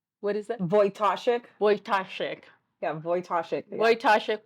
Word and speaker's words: Wojtaszek: I'm going to ask you, how do you pronounce her last name, Liz? Wojtaszek. What is it? Wojtaszek.